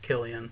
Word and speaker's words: Cillian: Yeah, I think it's Killian. Yeah, however you say his name. But it's spelled like.